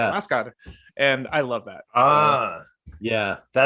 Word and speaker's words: Huascar: So it's Oscar, but to them it's Huascar, Oscar.